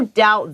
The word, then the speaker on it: doubt: 所以這邊講了with the arrival of, with, 就是隨著, 隨著這個機器人, 新型的這個, 所謂的機器人的勞動力的 arrivals arrive, 它的名詞, 它的來到這件事情呢, there's no doubt that, 一樣這個doubt的B, 是不發音的, it is clear that, 這是很清楚的undoubtedly, U-N-D-O-U-B-T-E-D, D-E-D-L-Y, 這件事情是無疑的, 什麼事情呢?